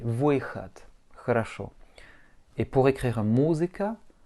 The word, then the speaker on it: выход: Et le D, bien comme un T. Выход.